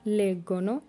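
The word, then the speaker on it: leggo: লরো লেগ্গনো তারা পড়ে। লরো লেগ্গনো তারা পড়ে। এখানে দেখুন প্রথমটা ইও লেগ্গো, জি এর সাথে ও হওয়ার কারণে গয়ের মতো উচ্চারণ হয়েছে, এবং লাস্টেরটা লরো লেগ্গনো,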